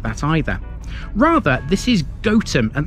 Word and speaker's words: Gotham: either rather this is goam and that pronunciation makes sense because it comes from goat Farmstead or place where goats were kept the Gotham pronunciation is